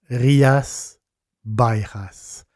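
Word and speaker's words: Rías Baixas: parler c'est rias bAXAS B a I XAS en galicien parce que c'est un c'est un langage qui existe en le en galicien les X se prononc comme les j donc faut dire Baas rias Baas 180 exploitations viicol dans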